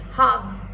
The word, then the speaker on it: halves: It's not halves, sorry, it's halves. L is silent in half.